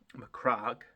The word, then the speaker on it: Macragge: to paint ultramarines with mcra blue mcra is it yeah it is pronounced mcra isn't it Craig Craig anyway that